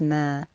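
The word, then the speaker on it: ما: Is the word that looks like a circle, linked to a dash, linked to a vertical line, and is pronounced as ma.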